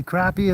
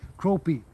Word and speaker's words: crappie: People say crappie in the south and in in the north they say croppie. Croppie. Interesting. I never heard that one before. I say crappie cuz it's spelled that way. So, I just And then I've heard a lot of people call them crappie, so must be listening to the southern people, I guess.